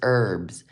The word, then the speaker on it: herbs: like not herbs it's herbs the H is silent the H is silence